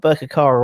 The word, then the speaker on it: Birkirkara: I said, "How do you pronounce the?" I got Birkirkara right.